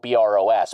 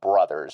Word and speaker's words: Bros.: guess I guess you it's spelled B R O S, but I guess it's actually Brothers is the way you pronounce it.